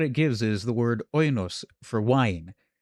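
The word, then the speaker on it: οἶνος: gives is the word oinos for wine. Oinos was the word for wine, except it wasn't. It was voinos. And in Latin, it was vinum. See? Vinum. That's so it had a W.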